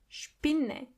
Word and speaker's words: Spinne: When you see an S before a P, you have to automatically pronounce the S as sh.